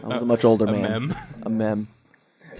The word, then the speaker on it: amiibo: was until I was a much older man a a me that's how you pronounce it right aame yes a Mimi Mimi